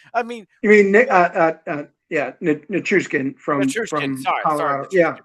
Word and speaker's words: Nichushkin: I mean, Nikishin, we could have got Nikishin. That's it. We have those assets. I mean, You mean yeah, Nichushkin Nichushkin.